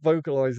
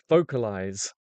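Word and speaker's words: vocalise: Vocalize has ease at the end. Vocalize? No, you don't say it like vocalize, do you?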